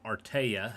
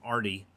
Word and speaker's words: Artea: I pronounce his name Artea. However, I think some people call him Artie. I just like the sound of Artea better.